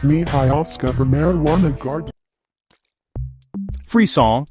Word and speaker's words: frisson: Fisson pronounced freon is derived from the French word for shiver or chills.